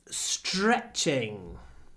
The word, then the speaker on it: stretching: It's stretching. Stretching has many health benefits. Remember, when we have t-r, it's pronounced like a ch. So we get str, s-ch-r.